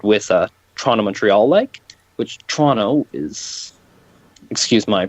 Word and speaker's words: Toronto: a Toronto-Montreal leg, which Toronto is, excuse my pronunciation of that, it's correctly pronounced Toronto, but because where I'm Toronto. from, and we pronounce it Toronto with a CH and no second T.